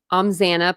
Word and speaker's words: Xana: Xana, pronounced Xanax without the X, is how the petite brunette introduced herself to the Pi Phis on the first day, and everyone laughed.